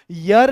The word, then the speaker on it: year: ये ईयर नहीं है, ये यर लिखा हुआ है। कान होता है EAR, ये होता है ईयर। ध्यान से सुनना, YEAR इसका सही उच्चारण यर है।